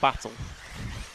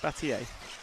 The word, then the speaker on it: Batier: I'm pretty sure it's Robert Batier, isn't it? It's not battle. Yeah, Batier.